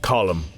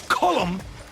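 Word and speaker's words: Colm: them it was wrong they didn't care it's pronounced colum it's not col he likes col and you like breeding so say colum properly colum that's better boy how did you manage to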